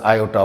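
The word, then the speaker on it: iota: तो ठीक है, जो भी आप है ना प्रोनाउंसिएशन करें, बट आयोटा को जानकारी रखिए कि इसको आयोटा हम कहते हैं, ठीक है।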